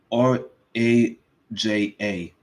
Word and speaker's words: Raja: It's R A J A Raja Jackson. I mistake him for Roger. I messed it all up. I butchered his name too much.